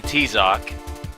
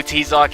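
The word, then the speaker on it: Tizoc: We call him T-Zoc. If you don't know who T-Zoc is, just Google him. It's spelled T-I-Z-O-K. No, T-I-Z-O-C, sorry. T-Zoc.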